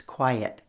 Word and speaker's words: quiet: And of course the word quiet almost has 2 syllables, quiet.